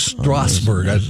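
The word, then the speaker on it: Strasburg: in France this is straber the North Dakota pronunciation straber straber straber he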